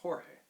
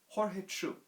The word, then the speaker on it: Jorge: a guide named george in spanish it's pronounced jorge jorge is taking me out